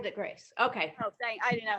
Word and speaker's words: Havre de Grace: Havre de Grace. Havre de Grace. Okay, Oh, I didn't know how to pronounce it.